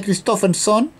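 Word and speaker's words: Kristoffersson: En el grupo 2, Johan Christofferson, así se pronuncia, Christofferson, Luca Di Grassi, Joseph Newgarden, Loic Duval o Helio Castroneves, cualquiera de esos dos.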